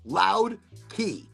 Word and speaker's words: Loud Key: got released by Goldflower, Loud Key, not K. I mean, it's pronounced key. So like the Keys of Florida.